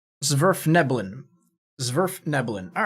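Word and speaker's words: svirfneblin: for Dark Elves right this is worth nebulon zverf nebulon all right it's just been a while since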